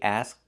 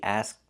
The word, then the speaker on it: asked: So the K is a stop K asked. We don't release it. The T is a stop T asked.